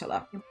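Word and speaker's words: Falaci: And in Latin, the C's are always pronounced like K's. Yes, yeah, oh, so it's Falaki.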